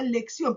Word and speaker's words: lección: Por lo tanto, esta tiene 2 sílabas y se acentúa en la última sílaba. Veamos la palabra lección, porque mamá la pueden ustedes identificar.